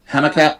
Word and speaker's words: Humacao: How's it pronounced? Humacao.